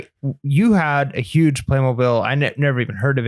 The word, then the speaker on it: Playmobil: And I'm still selling Playmobil. Like it's wild. How is somebody called in and actually told us how to pronounce it?